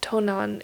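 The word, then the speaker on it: 東南: Which is interesting because those same two kanji, you pronounce it Nanto. You use like the onyomi versus kunyomi reading.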